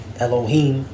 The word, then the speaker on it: Elohim: It says, in the Alahayim, when you go into this word God here, is Alahayim, or how they say it in the Syrian, all right, Elohim.